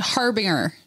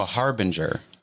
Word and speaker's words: harbinger: No, I think you have to do the J. Like a harbinger. No, Harbinger.